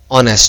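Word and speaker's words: honest: Obvious सी बात है, बट इसकी प्रोनाउंसिएशन होती है ओ से, ऑनेस्ट, जो कि हिंदी का क्या है, एक स्वर है, इसलिए इसके आगे एन का इस्तेमाल किया जाता है।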